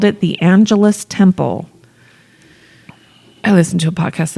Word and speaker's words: Angelus Temple: She moved to Los Angeles and built the Angelus Temple. It'd be awesome if the pronunciation really is Angelus Temple, and we're just like two houses. I know, because it's after angels. for and sure that.